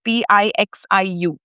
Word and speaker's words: Pixiu: So, um and and the other quality of a Pixiu, it's actually spelled p i x i u. But, it's pronounced Pixiu.